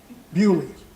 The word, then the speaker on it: Beaulieu: I have a friend in England, and his last name is B-E-A-U-L-I-E-U, Beaulieu. Nope, Bewley.